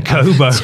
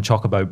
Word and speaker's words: Chocobo: there is chobo racing chobo I purposely mispronounced I'm sorry it's Chocobo racing yeah chocoo Chocobo are